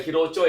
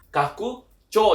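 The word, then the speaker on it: 拡張: Cara bacanya adalah bukan hero Cho ya, tapi kaku CO yang artinya itu adalah perluasan atau ekspansi ya.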